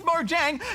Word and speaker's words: Mojang: Swedish so Goose it's Mojang time to drink up mister but it's a Swedish word so how they say it in Sweden where the word was